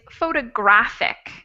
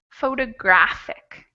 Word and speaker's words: photographic: the four syllables and the last one is photographic photographic so that there the third syllable will be the stressed out of those four okay moving on to